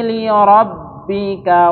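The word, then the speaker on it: لربك: Fasolli lirabbika wanar fasolli lirabbika wanhar 1 2 3libika wanar. Nah, ini lamnya jangan panjang karena di sini tidak ada tanda panjangnya gitu. Dibaca pendek saja.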